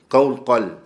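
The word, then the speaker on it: قوقل: And that's spelled with Qaf, Waw, Qaf, Lam. Upon the Qaf, Fatha, Sukoon on the Waw. The next Qaf has on it a Fatha and then a Lam. Qawqal.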